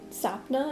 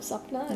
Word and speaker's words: Sapna: say my name and they say sapna instead of supna yeah it's like so